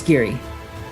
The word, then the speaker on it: Giere: we say it right my last name is Gary Geary welcome to the podcast there are over 32